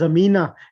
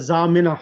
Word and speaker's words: Zamina: is akina told me i thought it was amina instead of zamina i didn't know that